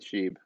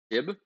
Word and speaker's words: SHIB: a Shiba Inu, shortened to Sheeb, pronounced Sheeb. How would you pronounce it? Shib? Yeah, but that doesn't. That I mean. Shiba Inu, it's short. Sheeb is short for Shiba. So that's how it's pronounced.